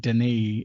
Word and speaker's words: Dannay: So he took the Daniel and made Danae out of it. It's spelled Okay. Dannay, but I'm sure that was just kind of a variation on Danny Sure.